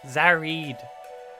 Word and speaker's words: Zarat: reflection the latest record from zarat pronounced zareed award-winning winning composer and